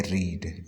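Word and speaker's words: read: अच्छा, इसकी spelling same है लेकिन इसकी जो प्रोनाउंसिएशन है वो डिफरेंट है। जो सिंपल पास्ट और पास्ट पार्टिसिपल में है वो है रेड।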